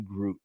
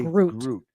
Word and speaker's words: Groot: And the other one is our man, Groot. There, I said it right. Yeah. It took him months for some reason he could not remember group and and he